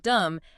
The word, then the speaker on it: dumb: simply because you know the word dumb ends with a silent B, right?